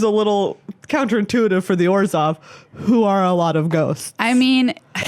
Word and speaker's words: Orzhov: Well, the little ghosts made me think that it's Orzhov. I'm going to give you a clue. It rhymes with Borzov. Is it Orzhov?